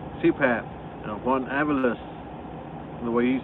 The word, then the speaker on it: Juan Avalos: Juan Avalos. Hey, I said it right. I'm not CPAP. Juan Avalos, the way he says it.